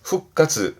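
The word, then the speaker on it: 復活: 발음은 후가스 후가스. 그렇죠? 항상 원래 후그이지만 뒤에 카행이 오게 되면 발음이 변형이 생겨서 전부 다 요런 케이스들이 되겠습니다.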